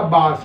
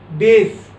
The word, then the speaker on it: bass: इसको लोग बोलते हैं बेस। बहुत सारे लोग बोलते हैं वो बेस गिटार या बेस। बेस नहीं होता, इसकी स्पेलिंग ही BASS है। बेस की स्पेलिंग होती है BASE। बेस बिल्डिंग का होता है, बेस हमारे जूते के नीचे होता है। पर ये जो स्वर होता है बास, इसको हिंदी में हम